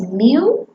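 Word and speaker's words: μ: symmetrical and bell-shaped and it has a mean pronounced as mu the area under the curve totals exactly one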